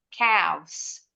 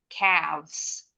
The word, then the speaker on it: calves: Bacanya, pita suaranya bergetar. Calves. Calves.